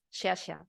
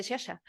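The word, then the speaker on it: Sciascia: de Italia que es shasha se lee así se escribe escia HM pero se dice shasha Entonces era un hombre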